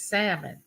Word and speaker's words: salmon: the real pronunciation is salmon you know the l is silent well my daughter it